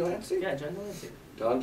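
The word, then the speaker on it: John de Lancie: Yeah, John D. Lancey.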